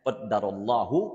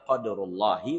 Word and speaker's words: qadarullah: Jadi bisa dua bacanya qadarullahu wa ma syaa fa'ala atau qadarullahi wa ma syaa fa'ala. Bisa jadikan fi'il ya atau masdar.